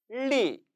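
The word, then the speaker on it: 力: 밭전자 티엔, 티엔, 힘력자 리, 리. 주의할 것. 중국어의 L 발음은 영어와 대단히 흡사하기 때문에 한국어의 리을과는 좀 다르다고 했었죠. 랄랄라 굉장히 경쾌한 발음으로 소리를 내야 한다는 것입니다.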